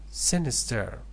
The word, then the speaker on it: sinister: So number 10, sinister, first syllable. The stress is on the first syllable.